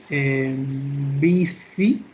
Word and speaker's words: busy: So, remember it's the sound of a mosquito. Es el sonido de un mosquito. Zzz, right? So the sound is busy.